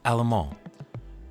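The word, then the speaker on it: Allemand: Uh another honorable mention is um Julie Alammon. That's how you say her name. Julie Alammon.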